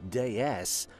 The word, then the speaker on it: DS: produced the Bon designed DS pronounced like the word for goddess in French cemented citen as one